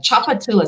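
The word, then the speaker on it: Tchoupitoulas: choose from huh and chocolatulas is a street and it's like a river there's all kinds of chocolates in there but choppatilla so the tch just makes the sound chop it to less and so they tend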